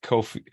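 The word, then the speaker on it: Ko-fi: I don't know how to say it it's Kofi because it's like a picture the idea is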